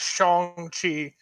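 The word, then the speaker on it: Shang-Chi: to the internet uh it does look like chongqi according to kevin feige uh is the one who started off the pronunciation of it as shong chi on uh or not even chong chi shang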